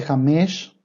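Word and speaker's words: חמש: El cinco se dice jamesh.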